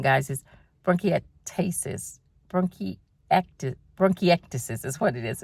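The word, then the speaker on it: bronchiectasis: I didn't count on bronchi broncasis. I say it wrong, guys. bronchiatasis. Bronacti, bronchiactis is what it is.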